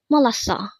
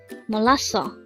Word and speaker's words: 몰랐어: This is pronounced as a three syllable word. The first syllable is mo. Second syable is l. Third syllable is o. Pronounce it with me. Molaso.